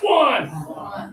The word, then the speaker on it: won: And now, this one confuses people. They say, I won the tournament. No, I won. Yeah, so even though it's a letter O, got to have that pressure.